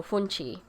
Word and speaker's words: fungi: with in the caribbean so funchi but here it's spelled like fungi i guess it's spelled in different regions differently um and rundown is